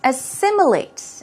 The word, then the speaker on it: assimilate: you see we've got assimilate assimilates okay let's take a look at the pronunciation stress goes right there on the second syllable so it's a simulator assimilate usually its assimilate into